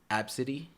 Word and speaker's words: ABCD: lady named her kid Absidy. For what? And it's spelled ABCD. ABCD. And it's Absidy. Absidy.